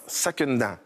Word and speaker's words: Sakenda: Alors, sakenda, Voilà, ça veut dire sakenda. saquer dedans, ça veut dire y aller à fond.